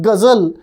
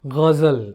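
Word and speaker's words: ghazal: you don't pronounce it gzel like the unwashed masses they put in a little H there to indicate there is guzzle gazel right and very similarly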